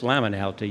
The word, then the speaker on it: liminality: Well, actually, it's liminality. You've mispronounced it.